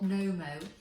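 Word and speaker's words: Knomo: over 10 years buy a brand called nomo that's spelled k-n-o-m-o and i've had a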